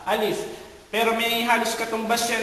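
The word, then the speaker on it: ألف: So parang kung gusto mong ma-perfect yung pagbigkas ng alif, hawakan mo ang iyong ilong, alif.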